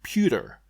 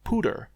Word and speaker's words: Puter: It was so hard to pronounce pewter right. So here where I live at, there's a dish called esputer, and it's an ice cream, but it's made from coconut milk instead of regular milk. It's good. It's a bit rare now, but it's good. But man, just trying to pronounce it as pewter, like at the end of computer instead of pooter, it was a challenge,